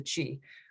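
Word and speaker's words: Qi: will go to delegate key delegate hi thank you very much my last name is difficult to pronounce it's actually pronounced the chi like uh the energy no just like you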